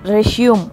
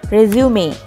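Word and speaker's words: resume: ஸோ இதை நம்ம ரெஷ்யூம் அப்படின்னு சொல்லி தப்பாக ப்ரொனவுன்ஸ் பண்ணிகிட்ருக்கோம். The right pronunciation is ரெசியூமே ரெசியூமே. And number 9 இன் our list is ரெசிட்.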